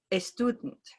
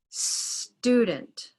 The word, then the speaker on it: student: We can do the same thing for speakers of Spanish who say escool or a student, right? So they have a word like student, and for speakers of Spanish, they want to say a student. And we can instead cut the syllable here. So now it's student.